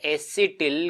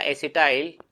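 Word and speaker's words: acetyl: इसका नाम होता है एसिटिल coenzyme A, एसिटिल coenzyme A या एसिटाइल, इंग्लिश में इसको प्रोनाउंशिएट करेंगे, हम उच्चारण करेंगे एसिटाइल कोएंजाइम A के रूप में।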